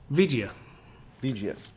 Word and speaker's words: Vigia: But how would you pronounce that, Jeremy? Vigia.